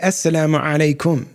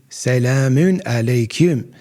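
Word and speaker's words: as-salamu alaykum: If you say Assalamu alaikum, that's the Arabic way of pronouncing it, and that's fine. But understand that they give salams, but they say it with a Turkish accent. Salam alaikum, salamun alaikum. That's how they say it. They don't say Assalamu alaikum. They don't have an ayn in this language.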